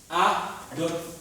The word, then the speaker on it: Adolphe: À l'oreille, c'est pareil. Hein. Adolphe, c'est pareil. F et PH, c'est pareil.